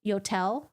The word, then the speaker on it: Yotel: chatting and stuff yodels yodels rhymes with hotels yotel what what is a